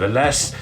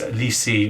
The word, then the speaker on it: Ellesse: There's been heavy debate whether it's ELLESSE or ELLESSE, but because it's named after the founder's daughter, I'm pretty sure it's ELLESSE, and it's Italian as well.